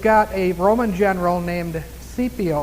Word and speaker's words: Scipio: While Hannibal was over here, you've got a Roman general named Scipio, it looks like Scipio. S-C is spelled with, starts with an S-C.